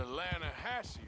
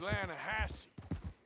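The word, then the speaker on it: La Hache: trout you mean the lahash river no no no no no no the the lahache it runs right near here yeah but it's pronounced lasse why is everything in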